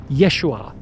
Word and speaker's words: Yeshua: His real name was Yeshua Kamashiach. That's how you pronounce it in Aramaic.